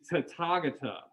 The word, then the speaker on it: Tathagata: So it is Tathagata. Tathagata. Tathagata. Yeah, very good. So the TH is not really a TH sound. It's more like a ta rather than a tha.